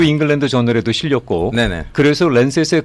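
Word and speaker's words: Lancet: 랜셋, 영어 발음은 랜싯.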